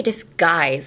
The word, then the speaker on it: disguise: And then disguise is also very hard because it's spelled with a G, but when you listen to it, it's like disguise. It's more like a K, so disguise.